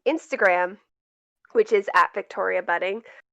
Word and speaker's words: Buding: And I'm also on Instagram, which is at Victoria Budding. Budding is spelled Buding, not two Ds.